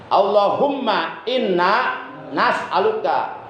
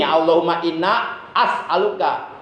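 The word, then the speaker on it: اللهم إنا نسألك: bacanya Allahumma inna as'aluka, hamzahnya ganti, itu hamzah mudora'ah, hamzah mutakalim wahdah, ganti dengan nun mal ghair. As'aluka menjadi nas'aluka. Allahumma inna nas'aluka. Jangan sampai begini, Allahumma inna as'aluka.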